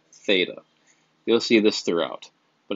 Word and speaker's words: theta: symbol just some of the symbol is pronounced theta you'll see this throughout